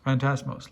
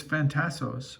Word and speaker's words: Phantasos: but I think he he refers to him as fantasmos like he gets leas gets his name wrong it's fantastos but Leia says fantasmos and then that gets